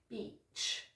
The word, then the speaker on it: beach: You need to have a long E sound, okay? So I want to see you kind of smiling when you say this word. Beach.